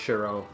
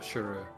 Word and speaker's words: Shiro: It's more meant to be pronounced Shiro, I believe. Like so. Okay. Not Shuru.